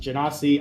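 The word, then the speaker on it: genasi: pronounced it anyways because technically yes I know GE is like French origin which means it's a soft G I just don't care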